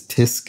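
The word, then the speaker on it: tsk: what that is so a chastising syllable is tisc as in tusk disk it's what i should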